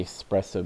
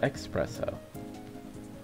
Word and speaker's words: espresso: Or the espresso machine. Because it's espresso, not expresso.